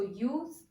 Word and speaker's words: use: When we use this word as verb, it is pronounced with Z sound. Use. Use your mask properly. But when I use it as noun, the sound is S sound.